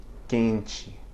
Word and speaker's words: quente: of a word, but at the end of a syllable, right, closing a syllable, it nasalizes the preceding vowel, sort of like the M does.